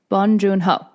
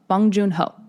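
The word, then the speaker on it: Bong Joon-ho: Bonjunho. Bonjunho. Okay. From that's how he says his name.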